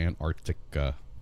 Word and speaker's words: Antarctica: We got to pronounce that correctly. Antarctica. You got to get the good C like in there. Like Anticope. Antarctica. Arctica. Yes, it's not Antarctica. You got, there's a C in there, so you got to... Right. Accent on the right syllables.